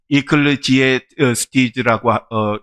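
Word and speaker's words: Ecclesiastes: 영어로는 이클레지에스티즈라고 읽는데, 이것은 교회에서 말씀을 전하는 자, 즉 설교자라고 하는 그런 의미입니다.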